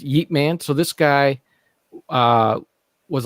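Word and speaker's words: Ip Man: from this war, but it's called Yeep Man. And it's what is it called? Yeep Man. So it's spelled IP. Oh, space okay. MAN. And it's Yeep Man.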